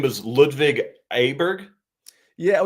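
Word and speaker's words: Åberg: me here you said his name was ludvig abber yeah it's actually technically pronounced Oar but it's spelled a b r g okay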